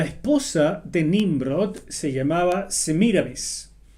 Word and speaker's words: Semiramis: de nimrod se llamaba se mira vez algunos la pronuncian semiramis pero aparentemente según la forma en que se escribía en estos idiomas antiguos debe decirse se mira mes ella estaba casada con